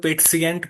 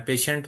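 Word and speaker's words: Patient: इसको आपने जर्मन में पेट्सिएंट पढ़ना है। पेशेंट नहीं पढ़ना।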